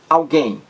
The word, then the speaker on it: alguém: Vejamos a primeira palavra, alguém. Alguém. Alguém. Alguém. Alguém. Duas sílabas. A sílaba mais forte, aquela em que você demora mais, alguém. É a última sílaba, gain. Alguém. Gain, última sílaba, a mais forte.